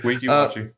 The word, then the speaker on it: Weeki Wachee: The backstop ends just feet where the property line of another home in the, Weeki Wachee? Yeah, that's how you pronounce it. Weeki Wachee.